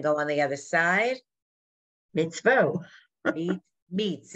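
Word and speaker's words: מצווה: Mitzvah. Mitzvah. Good. And then go on the other side. Mitzvah. Meats. It's really meats. Oh, it's meat. Mitzvah.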